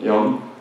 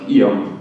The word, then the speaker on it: Jan: Well, I'm Jan. For the English people, if you can't pronounce the J, please replace it with an I, like Ion, instead of Jan.